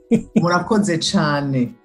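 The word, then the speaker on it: Murakoze cyane: Murakoze chane.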